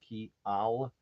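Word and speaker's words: kial: understand it right but k i a l that would be Y in Esperanto is pronounced key Al and k i eel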